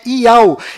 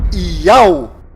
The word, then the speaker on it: Yauh: enviado do Criador, pois o nome do Criador é Iau, e a última letra do seu nome tem som de H mudo, do qual não altera a pronúncia deste nome.